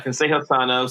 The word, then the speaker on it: ConsejoSano: Yeah, ConsejoSano. So it means healthy advice in Spanish.